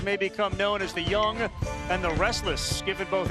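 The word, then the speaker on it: Jung: at third base Josh Young last name is spelled ju u n g but it's pronounced young and you got some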